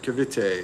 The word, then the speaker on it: Cavite: And Mike and Venus said, yes, you said it right, Cavite.